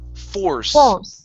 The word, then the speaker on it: force: Curve the tongue up. Pronounce the or force.